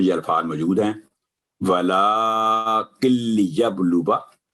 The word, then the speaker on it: لِيَبْلُوَ: اس میں یہ الفاظ موجود ہیں وَلَٰكِن لِيَبْلُوَ، الف سائلنٹ ہے تو واو کی آواز لمبی نہیں ہوگی، 1 سیکنڈ وا درمیان میں پڑھیں گے.